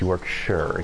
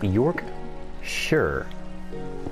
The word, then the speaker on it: Yorkshire: for sure because that's it's two very simple words york sure yes but it's spelled yorkshire and america because i'm